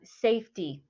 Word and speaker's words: safety: to the next one safety safety safety the stress is on the first part all right next one